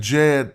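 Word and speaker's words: Djed: with the Jed pillar I could say the Jed pillar but I'm just saying Jed pillar because the D is silent that's represented in this DJ consonant cluster here okay and so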